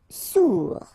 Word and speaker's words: sourd: Sourd. Final D not pronounced. O-U together. Ou, sourd.